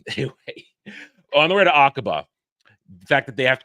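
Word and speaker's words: Aqaba: agaba I think it's agaba I think it's agaba aaba I think it's akaba um when they're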